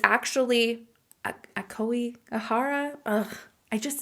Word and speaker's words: Aokigahara: Okay, so that area is pronounced Aokigahara. So this location is nowhere near where Sapporo was. Sapporo is like way higher up on the map, and it's actually Aokigahara.